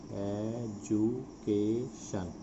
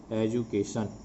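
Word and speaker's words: education: She received her एजुकेशन, एजुकेशन का उच्चारण समझ लेंगे, एजुकेशन। सो डी यू, इसका उच्चारण है ज, एजुकेशन, और टी आई का उच्चारण है श, श, श, एजुकेशन।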